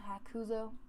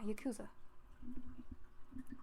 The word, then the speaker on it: Yakuza: As long as Pops and I are around, the Hakuza... Nope. Hakuza? Yes. I've even forgot how to say the other word. Oh my god. It's not Yaki-san. I remember that much. Yakuza? Nope. Yakuza. Yeah, Yakuza.